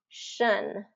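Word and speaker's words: -tion: With that T-I-O-N, it's shun.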